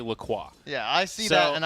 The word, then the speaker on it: LaCroix: Is that how you say it? Well, so yes, their website explicitly it's a bit of a says. toss-up. So it is, yeah, they claim it is LaCroix.